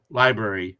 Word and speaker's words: LBRY: if you just google l b r y library is how it's pronounced but it's all caps lbry just google that